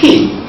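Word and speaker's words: quay: The first one is spelled with K-E-Y, but it's pronounced key. And the second one is spelled Q-U-A-Y, but with the same pronunciation of key.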